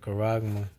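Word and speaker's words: χάραγμα: And the reason why I call it charagma, because when you look it up in the blue letter, in the interlinear, Strong's G 5480, charagma. Charagma. Yeah, and that's the pronunciation in the Greek.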